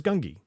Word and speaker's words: Gungi: in the chat, but his name is Gungi, and that's how I'm pronouncing it.